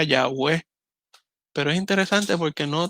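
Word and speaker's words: Yahweh: y h w h una tal vez pronunciación más real sería yagüe pero es interesante porque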